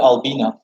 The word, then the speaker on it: Albina: suriname they flee to albina a-l-b-i-n-a that's how the city's name is pronounced and they flee to